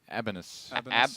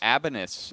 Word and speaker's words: ABB1NUS: How would you pronounce that? Abanus. Abanus.